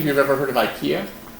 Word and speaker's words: IKEA: So, how many of you have ever heard of IKEA? It's a Swedish furniture store. There's one in Whitlam and one in Richmond. And they're based out of Sweden, Stockholm. Except in Sweden they call it IKEA, but it's a pronunciation difference.